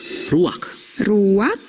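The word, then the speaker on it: רוּחַ: kehadiran Allah secara pribadi kata dalam bahasa ibraninya adalah ruwak-ruwak dan benar tenggorokan kita harus benar-benar bersih di akhir pengucapan jadi apa itu memang Ruak dapat merujuk kepada sejumlah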